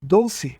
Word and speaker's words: Dolce: a chamavam de doce ele dá uma pronúncia Explosiva italiana a palavra Dolce e Bet a chamou